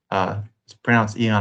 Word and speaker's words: eon: Oh, he was thinking of Aeon the whole time, or Eon, just pronounced Eon, I believe, but it has the A at the front.